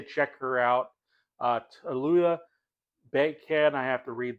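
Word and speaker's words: Tallulah: Uh, Tuluya Bank. I have to read this. Uh, it's spelled T A L L U L A H.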